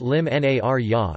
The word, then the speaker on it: l-Imnarja: Narja, or Elim Narja, pronounced Lim Nar-ya, is one of the most important dates on the Maltese cultural calendar.